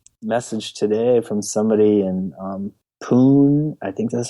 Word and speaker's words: Pune: And there are some people, I just got a message today from somebody in Pune, I think that's how you say it, Pune, India?